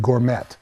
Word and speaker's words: gourmet: chamber of commerce president called it gourmet and i said the tea silent that's okay yeah and